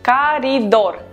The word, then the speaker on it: коридор: We write коридор, but we pronounce коридор.